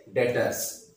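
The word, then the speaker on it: debtors: को हम क्या बोलेंगे, डेटर्स। ठीक है, डेटर्स भी बोल देते हैं, डेटर्स भी बोल देते हैं, वी को साइलेंट भी कर देते हैं, तो डेटर्स भी हो जाते हैं।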